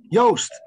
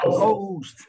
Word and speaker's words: Joost: Did I pronounce it correctly this time? Almost. Joost. Oh, Joost.